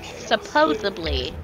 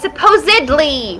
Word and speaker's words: supposedly: or whatever it's because she pronounces supposedly it's supposedly with a d really it's called